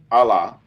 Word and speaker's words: Alaa: First name Allah.